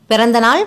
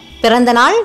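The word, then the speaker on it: பிறந்தநாள்: For happy birthday, you say Pirandanal vaazhthukkal. You already know vaazhthukkal. For Pirandanal, P, a short sound letter. Ra, a short sound letter. You say it with a stress.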